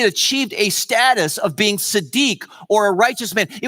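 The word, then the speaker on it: צדיק: was at our services last night because you pronounce it Siddiq but then someone was in our services who actually from Israel and she corrected me afterwards that I didn't say right so it's Adisa deke Sadiq and all that means is all that means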